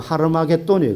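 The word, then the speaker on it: Harmagedon: 그래서 하르이 기도를 합쳐서 원래 히브리어 발음은 하르마게돈 그래 하르마게돈 근데 이걸 이제 한글로 영어로 되고 한글로 음하 아마겟돈이 되었는데 왜 아마게돈 이들이 모이는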